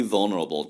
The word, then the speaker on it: vulnerable: 그래서 거의 vul에서 L 사운드가 없습니다.